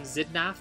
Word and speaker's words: Xidnaf: that is just awesome if you don't pronounce my name zidna pronounce it like this I officially endorse